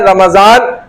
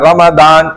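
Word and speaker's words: رمضان: नजर भी आ जाएगा रमदान इसका असल प्रोनाउंस क्या है प्रोनंसिएशन रमदान लोग इसको अलग-अलग गलत नामों से भी पुकारते हैं कोई रमजान भी कहता है ठीक है वो गलत है लेकिन कुरान ने खुद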